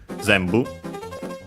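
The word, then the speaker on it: 全部: This one though, one of those accented on the first syllable. Yes. On the Z. Zambu it means uh it's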